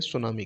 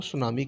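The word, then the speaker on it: tsunami: शब्द है जो सु अब इसकी स्पेलिंग है टी एस वाई सु और नामी से मिलकर बना सुनामी सु और नामी से मिलकर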